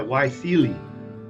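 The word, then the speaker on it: YSEALI: see you know there's like yeah all right why Celie Alibaba netpreneur and a 10 10 by 1000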